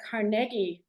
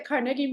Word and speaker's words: Carnegie: here it is the carnegi Museum of Natural History apparently at one point Andrew wanted to return to his Scottish roots and pronunciation so I I I